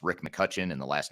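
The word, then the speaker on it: McCutcheon: so there's an e in there that's silent but it's McCutchen but with an e in there that makes it sound like which is how I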